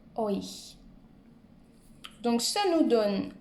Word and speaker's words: euch: Un autre conseil pour retenir, ou pour prononcer plutôt ce mot-là, qui est un peu difficile, imaginez-vous un O, I, tréma, euch.